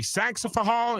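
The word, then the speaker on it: Saxapahaw: Saxophal, is that right?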